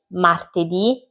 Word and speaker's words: martedì: I giorni della settimana sono lunedì, martedì, mercoledì, giovedì, venerdì, sabato, domenica. I primi cinque hanno l'accento sulla i finale, sono tutti maschili, tranne la domenica e si scrivono tutti con la lettera minuscola.